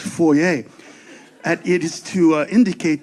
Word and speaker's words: foyer: Did you know that foyer is actually a French word? It's supposed to be pronounced foyer.